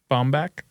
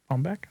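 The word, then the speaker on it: Baumbach: That's um it's by Noah um Bombach. Bombbeck, I think is how you say his last name.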